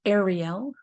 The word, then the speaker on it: Ariel: of god or hearth of god and it's pronounced ariel the origin of the name is the hebrew